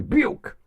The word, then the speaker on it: Buick: I had one neighbor that drove nothing but Buicks. Couldn't pronounce Buick. I didn't like my Bu. Your what? My Buick. That's Buick. That's what I said. Bu.